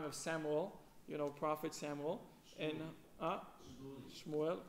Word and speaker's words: Shmuel: And Shmuel, correct. Shmuel.